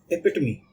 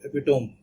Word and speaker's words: epitome: next word is epitomy it pronunciation is rather difficult because uh it a spelling is e p i t o m e as you can see here and most of the people if they don't know already and they will pronounce it epome which will be uh incorrec to do it's epitomy and epitomy means a